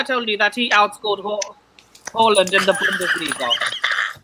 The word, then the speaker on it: Haaland: Haaland. Get it right. Yeah. Haaland. His name, Yes. Luca, there's no need for that. He did pronounce his name correctly. It is Holland.